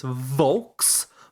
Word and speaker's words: Volkswagen: Folks, this is my Volkswagen. wagon. Yeah, they say it was an F. Volkswagen. Yes. Why? It's No, it's just the way they say the V's can sound like an F.